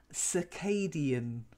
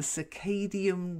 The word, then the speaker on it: circadian: kind of struggled over hommina I mean your pronunciation was really good well done but one probably you've not heard of before circadian the circadian rhythm circadian you want to try it ciao